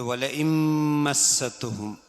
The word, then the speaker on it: ولئن مستهم: പതിൽ വലഇൻ മസ്സതുഹും, വലഇൻ മസ്സതുഹും നൂനെ മീമിലേക്ക് ഇദ്ഗാം ചെയ്ത് മണിക്കണം.